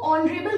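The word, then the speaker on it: honourable: नाउ the same thing is that H is silent again this word, तो एन का यूज हमें वहां पे करना है जहां पे एच आपका साइलेंट होता है। तो अब हम इसको जो प्रोनाउंस करेंगे वो ऑनरेबल करेंगे, ओटेल पढ़ते हैं, ठीक है।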